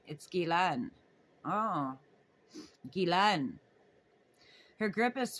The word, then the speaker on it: Ghislaine: Ghislaine Maxwell, she says, pronouncing her first name Ghislaine. Ghislaine. Ghislaine. Ghislaine. It's Ghislaine.